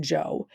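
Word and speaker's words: Zhou: So, the Joe period, again, I know it starts with a Z, but it's pronounced Joe.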